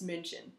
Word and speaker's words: München: For example, we know it as Munich, and in German it's München.